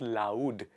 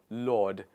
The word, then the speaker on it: laud: It is not loud. It is Lord.